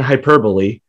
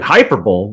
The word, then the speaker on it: hyperbole: Most people are like, hyperbole? What the fuck's this about? Sounds like a shape.